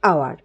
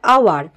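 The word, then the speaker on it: hour: এখানে এইচ আছে, তাহলে আওয়ার, তো এখানে যদিও এখানে আওয়ার রয়েছে, তো এখানে এইচের উচ্চারণটা কিন্তু এখানে সাইলেন্ট, তাহলে এইচের উচ্চারণ এখানে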